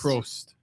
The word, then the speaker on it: Probst: Props Jeff or Probst? Prost. Probst. Yeah, the B is silent. Oh, for, Prost.